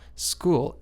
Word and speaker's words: school: l there we go School s c h o o l school school is cool yeah there we go and the H in school is actually silent so you pronounce the